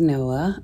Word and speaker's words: Noa: Her name is Noah, and it's the female version of the male Noah, so it's spelled N-O-A.